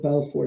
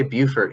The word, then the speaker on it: Beaufort: the lowest prevalence is, I always pronounce it Beaufort. Is that correct? How do y'all pronounce it? We say Beaufort here in South Carolina, but I know that's how our North Carolina neighbors say it. Yeah, well, being from Louisiana, BEAU is Beau.